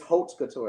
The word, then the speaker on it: haute couture: It's haute couture.